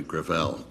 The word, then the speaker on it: Gravel: it within my family grael grael it's a French name thank you uh I